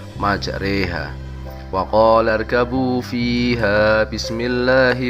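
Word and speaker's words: مَجْرٜىٰهَا: Pada pertengahan ayat tersebut terdapat lafal majroha yang dibaca imalah menjadi majreha. Wa qala irkabu fiha bismillahi majreha wa mursaha inna rabbi laghafurur rahim.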